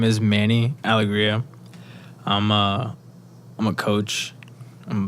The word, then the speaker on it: Alegria: Alegria. That's how it's pronounced in my way.